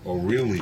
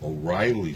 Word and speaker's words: O'Reilly: And in Spanish, they pronounce it O'Reilly Street, but it's really O'Reilly Street.